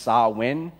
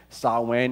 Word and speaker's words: Samhain: It looks like Samhain, but it's actually pronounced Samhain. Samhain.